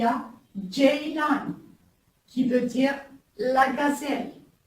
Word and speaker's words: Ceylan: C'est pas le C comme en français, c'est le J. J. Comme exemple, il y a Ceylan, qui veut dire la gazelle.